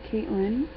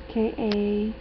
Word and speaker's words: Kailyn: And then we got Caitlyn. Isn't that how you say her name? Kailyn.